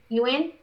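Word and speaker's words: Yeun: Ewan. I think Ewan?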